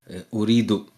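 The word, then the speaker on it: Ooredoo: So, by the way, it's uh uridu. That's how it's pronounced.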